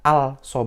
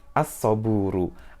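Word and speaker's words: الصبر: tidak di tidak terbaca kalau ada yang baca also buruk maka itu salah karena harusnya dibaca asobru asobru inget ada tas-tas duitnya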